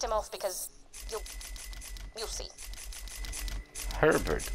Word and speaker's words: Herbert: Herbert, as you may expect, rhymes with pervert, and that's pretty much his entire character.